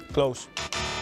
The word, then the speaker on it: Klose: Close.